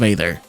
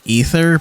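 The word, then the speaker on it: Aether: Day called lovers of ather okay actually I'm pretty sure it's pronounced lovers of ether but I'm just going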